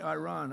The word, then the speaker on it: Iran: See, now I say Iran. I don't use because he obviously has a correct pronunciation.